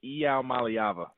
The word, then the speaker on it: Iamaleava: How was I on the pronunciation? Was I close? 80. You were close. Not completely spot on. It was Iamaleava.